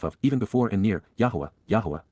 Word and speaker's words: Yahowah: even before and near, Yahowah, the proper pronunciation of Yahowah, God's personal and proper